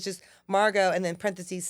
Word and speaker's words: Margeaux: Instagram is at funny Margo and I'm gonna spell it for you because Marco spelled like Pappadeaux it's m-a-r-g-e-a-u-x so funny Margo how